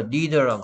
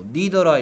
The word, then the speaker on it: neither: Either, Neither랑 같이 설명했잖아. 뭐 Neither라 읽기도 하고 Neither라고 읽기도 합니다.